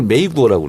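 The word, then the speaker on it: 美国: 미국을 메이구어라고 그래요. 메이구어? 미국. 그래서 미가 아름다울 미자가 메이로 발음나고 국이 구어. 메이구어. 받침이 없거든 중국말.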